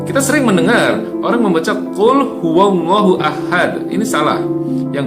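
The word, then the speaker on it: قل: surat al-falaq cop ya kata pukul ini tidak dibaca dengan menggunakan huruf qaf ya tapi di kita dibaca dengan menggunakan huruf Kaf ini sering terjadi dan kita dengar ya yang benar adalah full huahad bukan kulhu allohu ahad Qul dengan huruf qaf artinya Katakanlah sementara cool dengan huruf Kaf artinya adalah Makanlah full huwallahu Ahad Katakanlah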